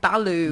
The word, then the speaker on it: balut: So this is balut.